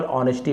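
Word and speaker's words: honesty: ऑनेस्टी यहां पर एच को नहीं पढ़ेंगे केवल ऑनेस्टी पढ़ेंगे। एच साइलेंट होता है।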